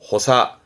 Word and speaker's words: 補佐: 발음은 호사, 호사.